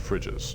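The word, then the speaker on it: Frigis: from Chancellor Lorac of fridges. Oh, on screen. Oh, now I get why you said fridges. Yeah. Yeah, it's pronounced in the same way as the refrigerator fridges.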